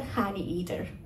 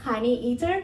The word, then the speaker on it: honeyeater: Victorian fellow the helmeted honey eater by the way it is honey Eater Not honey eater I spent the whole first year of my PhD pronouncing it like that true story anyway